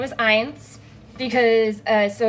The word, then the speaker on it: Eins: I made it, and his name is Eins because so it's spelled E-I-N-S because it's a nod to my